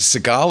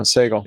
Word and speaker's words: Sagal: Is it Seagal or Sagal? Sagal from Wait, Don't Tell Me. Yeah, I thought it was Seagal. No, Sagal.